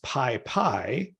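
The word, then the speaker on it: PyPy: packages um right and the project which you would pronounce Pi Pi is spelled py py aha which is an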